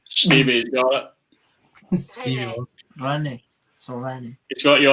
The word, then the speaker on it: Rennes: Like Rennes, that's how you say it. That's how you Rennes. say it. Rennes, mate. Well, that's not how the French say it.